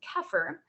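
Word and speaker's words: Kheper: Although the term of Zephyr has a slightly different phonetic value than the original Egyptian word, the Egyptian word is pronounced Kefir, and our term is pronounced Zephyr, it carries a similar definition and meaning.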